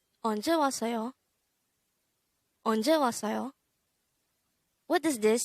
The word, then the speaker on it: 왔어요: This is pronounced as a three-syllable word. The first syllable is was, second syllable is the third syllable is yo. Pronounce it with me. 왔어요. 왔어요.